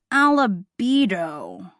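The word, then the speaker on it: albedo: What's an albido? Jack struggled to pronounce.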